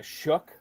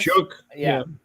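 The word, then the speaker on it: Shough: I I I've heard uh uh Shook on this. Shook. Here's the thing. Doesn't have a K anywhere in his name, so we get to that.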